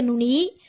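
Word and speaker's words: ن: அதாவது சிங்கப்பற்களுக்கு மேலே உள்ள முரசுல அழுத்தமாக படும் பொழுது நூன் என்ற எழுத்துடைய உச்சரிப்பு வெளியாகிறது நூன் நூன் அடுத்ததாக பார்க்கக்கூடிய எழுத்து வாவ்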